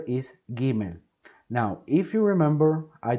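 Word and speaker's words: גימל: Now, this letter is Gimel. Gimel.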